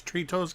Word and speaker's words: Tritos: It's Tritos Gamba. Oh my god. Three toes. That has a double meaning.